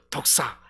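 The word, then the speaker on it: δόξα: 그런데 여기서 영광에 해당하는 헬라어 말은 독사, 우리가 말하는 그 뱀이 아니고요, 독사, 그 발음으로 독사인데 이 독사는 언제든지 좋은 방향으로 계획되고 이루어지는 뜻이다라는 의미입니다.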